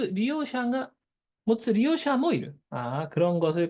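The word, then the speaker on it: 利用者: 그러니까 뭔가를 갖는 그런 걸 갖는 자, 마지막 리오샤라고 있습니다. 리오샤. 자, 리오는 다 이게 크게 발음해야 돼요. 요자 작은 요자 아닙니다.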